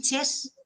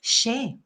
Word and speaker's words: xe: Ellos lo ponen con X. Y esa no es nuestra pronunciación, porque, por ejemplo, Játiva en valenciano es con X al principio. Y esa pronunciación es Xàtiva. O sea, si hiciéramos caso a los catalanes que dicen che con X, tendríamos que decir xe.